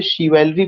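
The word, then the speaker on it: chivalry: इसको हमें शिवेलरी प्रोनाउंसिएशन करना है, ये फ्रेंच वर्ड है।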